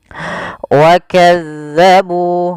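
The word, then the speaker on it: وكذبوا: Wakazzabu, nah ini tekan di zal bukan wakazzabu. Jangan kita baca dengan hati-hati, jangan sampai kita membacanya dengan wakazzabu dengan huruf zai. Ini huruf zal sebagaimana tadi walladzina.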